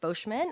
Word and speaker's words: Bosman: I'm Bosman uh very close it's it's French uh so I am bman I'm a registered nurse